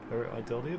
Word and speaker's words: pareidolia: Paraidolia, that's how I'm going to pronounce it at least, is what he's suggesting is the inanimate object.